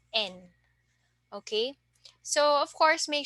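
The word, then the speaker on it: 円: say it in Japanese you pronounce the Yen as just n okay so of course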